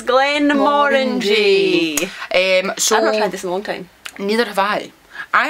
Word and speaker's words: Glenmorangie: trying some fruity whiskey that rhymes with and with orangey it's Glenn Warren G um neither have I